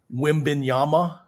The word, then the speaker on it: Wembanyama: Wembanyama, did I say it right?